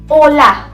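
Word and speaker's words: hola: ओला, ओला.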